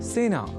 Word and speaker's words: सेना: एक शब्द है सेना जिसका प्रयोग सेना इस रूप में ही करना चाहिए क्योंकि सेना में स इस अक्षर के बाद ए इस अक्षर का प्रयोग हुआ है। अतः सेना इस शब्द के उच्चारण में ए इस स्वर वर्ण या अक्षर का ही प्रयोग किया जाना चाहिए ना कि ऐ का।